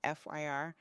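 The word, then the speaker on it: FHIR: Healthcare interoperability resources yes we're calling it fyr like fer because who has time for a whole extra syllable this open- Source standard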